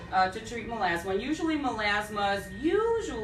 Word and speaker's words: melasma: who wants to know about, I'm going to pronounce this wrong, so pardon me, melasma?